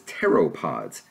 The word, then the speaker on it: pteropods: Well, there are also creatures known as pteropods. That's spelled P-T-E-R-O-P-O-D.